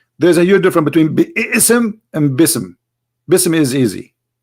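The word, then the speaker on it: بسم: say you see here you didn't say be ISM no more here they say BISM so it's not an error scribe it's an error in the pronunciation are you getting my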